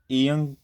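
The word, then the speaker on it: 이응: अच्छा, ईयंग किसी भी वर्ड के स्टार्ट पे आएगा तो इसकी साउंड जो है ना, स्टार्ट की, शुरू की, वो बिल्कुल कोई भी नहीं रहेगी, ठीक है, साइलेंट रहेगा, साइलेंट। स्टार्ट पे क्या रहेगा, साइलेंट। इन केस ये किसी वर्ड के मिडल में आता है तो तब भी ये साइलेंट रहेगा। लेकिन अगर किसी वर्ड के लास्ट पे आएगा तो इसकी साउंड होगी अंग, अंग।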